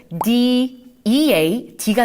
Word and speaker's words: dead: 죽었어 라고 할 때 우리가 영어로 뭐라고 하냐면 D-E-A-D가 나오네요. 또 그럼 한번 연결해 보세요. D-E-A-D가 나오니까 우리 E-A를 에로 발음을 해줘서 dead.